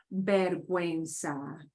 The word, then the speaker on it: vergüenza: Vergüenza. Vergüenza. Vergüenza. Yeah, vergüenza. So go ahead and pronounce the U.